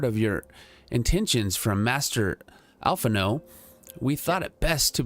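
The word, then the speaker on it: Alphinaud: All right, so, really, Alphanod, if I need concern myself with anything, it is surely matters such as these. So this is Alphanod.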